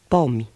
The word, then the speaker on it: pomi: I is almost silent at the end of words, except when preceded by a consonant. Pomi.